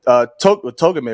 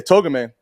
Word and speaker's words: Togame: And with that, his boy, Togame, right? I know I said his name earlier, but I want to make sure I'm saying it right. Yeah, Togame, the right-hand man, he was such...